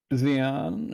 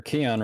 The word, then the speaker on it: Keon: Xeon, or Keon rather, I keep mispronouncing that.